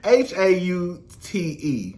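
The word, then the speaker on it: Haute: it was called halt how do you pronounce it haunt hot lantern girl h-a-u-t-e lounger um the show got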